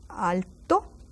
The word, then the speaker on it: alto: who is tall ala Alto Al sounds like I have an accent there but there is none because the O is already strong enough Alto ala and let's go